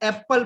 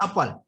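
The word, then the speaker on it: apple: जैसे हम लोग मिस्टेक करते हैं पढ़ने में, हम लोग एप्पल पढ़ते हैं एप्पल, जबकि उसको क्या पढ़ा जाता है? अपल. क्या पढ़ते हैं? अपल.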